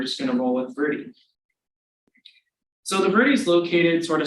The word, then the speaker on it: Verde: So you might be wondering why Dave and I have been saying Verde and not Verde as it is spelled. Well, the local people in Arizona that live around the Verde, so those communities, they call it the Verde.